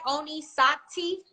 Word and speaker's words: Oni Sakti: i'm good did i say your name right oni sock teeth yes it's it rarely happens but well a